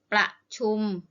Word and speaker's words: ประชุม: ปอ รอ อะ กระ อุตุ o-pavee ตู ที่ ประชุม ปอ รอ อะ กระ ชอุ่ม อ.